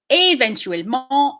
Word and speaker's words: éventuellement: Éventuellement, again, that accent is causing this E sound to be an A.